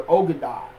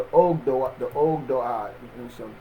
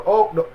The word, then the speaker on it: Ogdoad: We was warned against those who the Ogadad lords, or the Ogad. I don't know if I'm saying it right. Let me make sure I'm saying the name. The Ogdoad, yeah, we was warned against the Ogdoad, those who were still